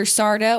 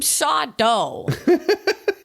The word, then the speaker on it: Sardo: correctly yes and like people would always call him mr sardo and he would go i'm sodo no no mister accent on the dough and people would be